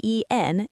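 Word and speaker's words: 円: Yen, written as y e n and pronounced en in Japanese, not yen as we say in English.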